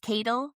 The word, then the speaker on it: Cadle: Kit Cadle. Spelled like ladle.